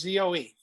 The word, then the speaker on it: Zoe: no no y just z-o-e z-o-e oh that's zoe isn't that zoe yeah so it's also pronounced zoe that's that's a hot name zoe i think so rhymes with toe as in job you